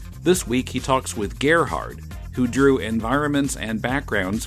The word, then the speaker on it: Gerhard: Officially, no, and it's actually pronounced Gerhard, as in, like, rhymes with Amelia Earhart.